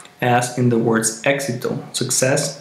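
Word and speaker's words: éxito: known as Eis and it usually has a pronunciation that resembles the sound of the K and the S together and it sounds like as in the words exito success exito exuberante exuberant exuberante and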